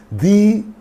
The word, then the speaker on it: the: can use the so before the vowel sounds we use we pronounce the before the consonant sounds